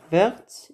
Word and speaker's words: verte: Verte. On prononce le T parce qu'on a ajouté le E à la fin.